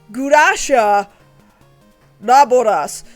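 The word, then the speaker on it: Glasya-Labolas: However, the pronunciation in Japanese is gurasha laboras.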